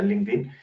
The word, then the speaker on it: LinkedIn: como linkedin es decir o linkedin pero realmente se pronuncia linkedin donde precisamente eh se